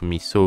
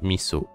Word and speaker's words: miso: Mais ok, d'accord, en français, quand le S est entouré de voyelles, il se prononce zo. Par contre, là, c'est vraiment le mi et le so en séparé. Donc, c'est miso. Soupe miso, pas soupe miso.